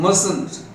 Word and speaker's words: mustn't: Negative, must not and mustn't. Mustn't, 2 syllables, mustn't.